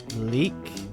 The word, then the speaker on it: Leake: here with Jon Leake. Is that how you say it? Leake? Yeah, Leak. Leak?